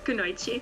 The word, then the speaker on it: Kunoichi: I saw you're a part of the Kunoichi team, if I pronounce it right. Kunoichi? Yeah, Kunoichi.